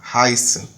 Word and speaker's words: heißen: haisen ha ra ra haisen ok e vocês devem ter notado aqui que a pronúncia ficou haisen esse e i do Alemão tem som de a i certo a i então